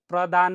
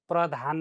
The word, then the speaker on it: प्रदान: संगै है तस गर प्रदान भन पर्ने साथी प्रधान भन भयो उच्चारण का क्रम तस